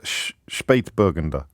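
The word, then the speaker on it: Spätburgunder: of before this weekend apparently it's pronounced sh spate bergender so thank you to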